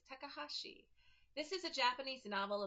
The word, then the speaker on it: Takahashi: Chibinkino Kitchen by Yuta Takashaki. I might have pronounced that wrong. I apologize. Takahashi. I think that's how it is. Takahashi.